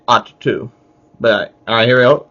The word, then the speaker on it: Ahch-To: Oh, that's how it's pronounced, Ahch-To. Yeah, some people pronounce it differently, but I just say Ahch-To.